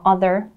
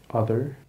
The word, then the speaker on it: other: Attention à la prononciation des th dans other. Other. Other, yeah. Mettez bien la langue entre les dents.